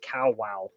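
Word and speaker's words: Kawau: I don't know but they said it's pronounced cow wow Island and they may just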